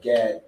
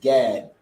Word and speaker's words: Gad: and that the Hebrew the Hebrew pronunciation of the tribe of God is just like the English down there and the English is Gad and the Hebrew is God you understand so which